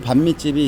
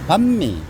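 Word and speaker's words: bánh mì: 그 저도 이제 단골 반미집이 있는데 그 이게 반미 반미 이러면은 얘네들은 꼭 지적해 줘요. 반미 아니고 밤미 이렇게 발음하라고.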